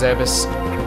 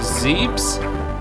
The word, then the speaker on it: Zebes: actually is it I I'm pretty sure it's pronounced zebus I've heard some people call it zebs I don't know how you say it a come